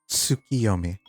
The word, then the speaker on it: Tsukiyomi: Tsukiyomi.